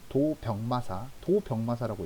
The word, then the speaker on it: 도병마사: 자, 그 다음에 국방과 군사 문제를 논의하는 회의기구 도병마사라고 읽어야 됩니다. 알겠죠? 도병마사가 아니라.